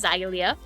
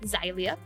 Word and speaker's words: Zailia: Last name is Zailia. That's how you pronounce it. I know a lot of people get confused on how to pronounce it. Zailia.